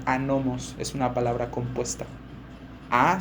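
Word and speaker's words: ἄνομος: La palabra maldad en griego es una palabra que se pronuncia anomos, es una palabra compuesta.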